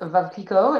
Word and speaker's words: Veuve Clicquot: So note the pronunciation, by the way, is Veuve Clicquot. It rhymes with love was the trick I was told here.